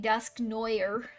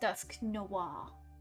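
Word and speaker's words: Dusknoir: every Rumble weekend but I used to like growing up saying dusk Neuer it feels weird his name actually feels wrong now that I know that it would technically be pronounced dusk Noir can show off what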